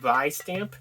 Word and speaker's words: Vistamp: vice stamper vi stamp by stamp it's like vi stamp but they kind of pronounce it with like a b sound so it's like by stamp but uh that's our